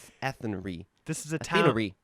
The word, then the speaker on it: Athenry: Athenery. Athenry.